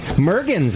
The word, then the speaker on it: Mergens: Just like Jurgens.